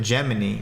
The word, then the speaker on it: Gemini: Remember that Gemini, right, is actually, it's pronounced Gemini in the game, so it can be closer to Jiminy, like Jiminy Cricket.